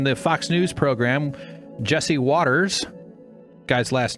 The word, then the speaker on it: Watters: It's Waters is how you pronounce it if there's two T's.